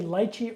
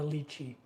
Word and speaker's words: lychee: Do you say lychee or lychee? I know some people say lychee.